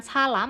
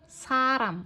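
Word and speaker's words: 사람: dia letaknya di tengah Ini bacanya jangan salam tapi Saram Oke Saram Saram Jadi kalau letaknya di antara dua huruf vokal itu bacanya R jangan l lalu tadi kalian masih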